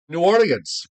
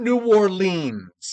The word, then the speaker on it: New Orleans: new or New Orleans New Orleans not New Orleans it's New Orleans oh well say it you have to or norins you have to say it like it's one word I'm saying it the